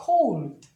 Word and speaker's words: cold: 그게 I가 대표적이고 O도 가끔가다 그런 현상이 발생하는데 O도 예를 들면 뒤에 LD, LT, ST 정도가 나오면 그런 현상이 발생해요. 예를 들면 얘도 마찬가지로 이렇게 되면 단모음, 그러니까 뒤에 자음 두 개라고 생각하는 게 아니라 단모음 발음을 그러니까 R라고 하는 게 아니라 O로 해요. 그러니까 cold.